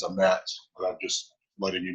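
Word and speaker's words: אמת: to an Ashkenazi pronunciation, she says Torah's a mess. There's that tav gets pronounced as an S in the Ashkenazi pronunciation. Now we follow Sephardic, which is what is used in Israel today, and it is a met.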